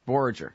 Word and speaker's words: Borger: Borger. Okay. Finally, I know for a fact it's a soft G.